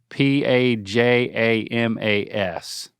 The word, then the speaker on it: pajamas: syllable of the word p a j a m a s how do you say that word p a j pajamas okay with the vow in Palm pal J jamas yeah